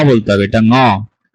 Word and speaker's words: ঙ: ঙ এর মতো উচ্চারণ করতে হয়, এটা উঁ হবে না। ঠিক আছে, আমরা উঁ উচ্চারণটা আসলে ভুল বলি, উঁটা হবে না। আপনার ঠোঁট কখনো বাঁকা হবে না, ঠোঁট কখনো গোলাকার হবে না। এটাকে একই স্টাইলে পড়তে হবে, ক খ গ ঘ ঙ।